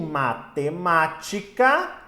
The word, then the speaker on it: matemática: Veja, em matemática nós temos aqui, ó, a antepenúltima sílaba tônica.